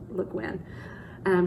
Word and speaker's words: Le Guin: I think you say her name Le Guin.